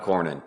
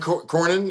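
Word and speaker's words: Cornyn: Is that how you pronounce his name? Corin. John Cornin. John Cornin.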